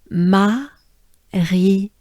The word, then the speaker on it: Marigny: And nya goes into a I. Ni. It's very nasal. Ni. Ya. Ye. So it's ni, ye, right? Ni, ye. And then it's shortened into nye. We can do this. Nye, right? All right, let's try as a whole together ensemble. Take a good breath with me, avec moi. Marigny. Encore. Marigny.